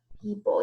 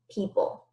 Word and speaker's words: people: tricky sound in there there's actually an O in the word people you don't hear that though P o and then